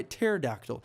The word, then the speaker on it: pterodactyl: There's this one dinosaur called the pterodactyl. Actually, the P is silent and it goes by pterodactyl, and I'm wondering why